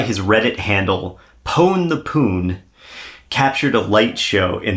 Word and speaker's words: Pone: It's spelled Pone, P-O-N-E, the Poon, rather than P-W-N, which is what it would be, how you would spell it if it was like a video game Pone. But right. I think, it's just phonetically spelled.